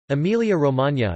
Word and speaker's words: Emilia-Romagna: Emilia-Romagna, Italian pronunciation, E-M-I-L-J-A-R-O-M-A, Emilian and Romagnol, Emilia-Romagna, is an administrative region of northeast Italy comprising the historical regions of Emilia and Romagna.